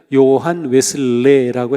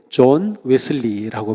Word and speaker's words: 존 웨슬리: 사람 좋은 웨슬리가 있습니다 예전에는 요한 웨슬레라고 했는데 요즘은 원래 그 발음대로 좋은 웨슬리라고 보통 합니다 자 300년 전에 좋은